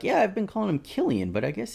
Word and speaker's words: Cillian: a giant prank haha Sam keeps calling him sillian when it's Killian let's see how long